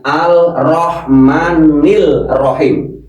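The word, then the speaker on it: الرحمن الرحيم: Kalau ketemu huruf ro alnya tidak terlihat langsung ar.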